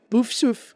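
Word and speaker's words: Poufsouffle: Essa eu acho que eu pronunciei direitinho, deixa eu ver. Puffsuf, isso mesmo.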